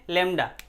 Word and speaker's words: lambda: किससे, लेमडा। ऐसे बनाते हैं, ऐसे इसको पढ़ते हैं क्या है, लेमडा, LAMBDA। ठीक है, ये बी साइलेंट है, बी साइलेंट है।